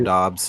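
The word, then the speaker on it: Doubs: And I'm gonna pronounce this wrong, Eric. Is it Dobbs? Romeo Dobbs, yeah.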